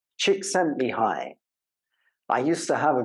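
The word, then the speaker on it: Csikszentmihalyi: by a man called chick sent me high I used to have a girlfriend whose name was he and so I made up this pronunciation chick sent me he chick sent me high unfortunately he died last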